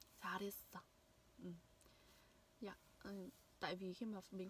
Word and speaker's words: 잘했어: 잘했어. 잘했어. 잘했어. 잘했어. Khi mà âm này nối âm R này nối với cả âm H này thì sẽ là 잘했어.